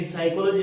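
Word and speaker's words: psychology: जैसे कहीं पे भी साइकोलॉजी लिख रहे हैं तो साइकोलॉजी की स्पेलिंग स्टार्ट पी से हो रही है, उसमें पी साइलेंट है।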